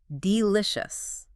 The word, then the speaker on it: delicious: Delicious. Let's try that together. Say it slowly, emphasizing the middle.